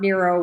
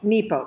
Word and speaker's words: Nepo: every single day mark nero was uh was fighting cancer when he wrote this and it's beautiful so nepo mark nepo did i say it wrong nero i said nemo finding nemo i'll just